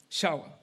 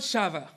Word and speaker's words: Shawa: It's Remy Shawa. For the Shonas in the house, it's not Remy, it's Remy. And it's not Shava, it's with a W, Shawa.